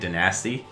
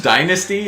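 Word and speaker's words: Danasty: you can be grant i always call them grant denasty think it's dynasty or i don't know it's spelled d-a-n-a-s-t-y that's nasty nasty so you can play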